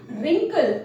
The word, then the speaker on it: wrinkle: रिंकल, WRINKLE, हाँ sorry, silent W इज in initial of WR।